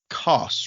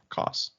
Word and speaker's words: Koss: Address me as Koss, rhymes with cross. Okay, Koss.